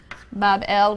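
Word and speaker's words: Bab-ili: shrine or temple in Babylon pronounced Bob L which simply a gateway of the god the gate of the god Babylon means the city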